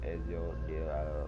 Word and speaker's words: Ezio: Ezio, or I like to say Zio, but his name is pronounced Ezio or something.